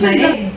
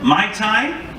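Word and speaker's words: Mayte: Maite. Yes. Maite. Mai Tai? Maid, Maite. But Maite is, how to spell it for me?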